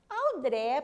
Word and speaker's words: André: Qual que é a sílaba tônica de André? André, professora, é a última sílaba do seu nome, não é?